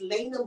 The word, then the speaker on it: Lay'na: And he said, "Okay, make sure you say her name is Lena Michelle."